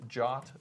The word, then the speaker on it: JWT: And are you pronouncing that jot like J O T?